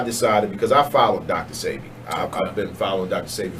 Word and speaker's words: Sebi: Sebi.